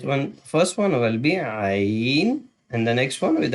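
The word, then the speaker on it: ع: first one will be Ain, and the next one with a dot on the top will be Ghain. Ain and Ghain. Ain is from the middle throat because Ha and Ain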